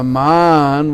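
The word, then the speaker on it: Mān: called man mandir now man with a long a means you take a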